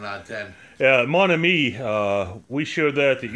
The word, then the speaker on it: Mon Ami: We're here today to review Mon Ami, or Mon Ami. No, Mon Ami. That's how it's pronounced.